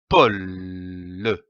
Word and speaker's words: pôle: L'association de ces deux syllabes donne le mot pôle, comme un pôle. Attention ici à l'accent circonflexe. On traîne le O.